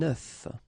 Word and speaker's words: œuf: if you listen carefully, the pronunciation is changing quite much, because for the singular form it's œuf, but then for the plural form here it's œufs, okay?